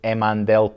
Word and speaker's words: Emandel: Well, I do most stuff by email, really, which is just Laurie Duncan at Emandel Properties, but nobody can ever spell it.